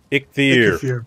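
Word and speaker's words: Eikthyr: So generally, I prefer to have Earth's power until Ichthyr. Later stages. Jeez. What? No, seriously. It looks... No, guys, it's spelled E-I-K-T-H-Y-R, but it's actually like you're clearing your throat.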